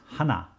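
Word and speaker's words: 하나: context let's begin with number one one is hana hana two is tul tul three is set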